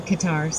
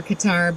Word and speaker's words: Qatar: had a flight from Qatar cutter somebody helping here but I I understand the cutter is like the right pronunciation but I just hasn't seemed to catch on so people think it's wrong I don't know input